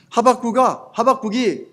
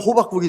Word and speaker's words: 하박국: 그가 내게 무엇이라 말씀하실는지 기다리고 바라보며 나의 질문에 대하여 어떻게 대답하실는지 보리라 하였더니 하박국이 이 잘못하면 호박국이 되니까 이 발음을 잘해야 돼요.